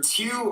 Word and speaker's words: Tew: And it's Tew, rhymes with few.